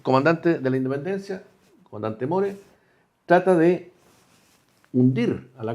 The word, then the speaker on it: More: El en Mor, el comandante se escribe more, no more, que mucha gente que se confunde y le llama More, muore.